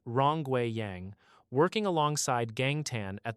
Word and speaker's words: Rongwei Yang: Led by professors Xiaobo Yin, pronounced Xiaobo Yin, and Rongwei Yang, pronounced Rongwei Yang, working alongside Gang Tan at the University of Wyoming.